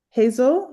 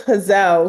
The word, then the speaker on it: Hazel: The extra L be throwing people off, but it's Hazel. You Well, got I have a it. friend who's Hazel, so I also, mindful of that.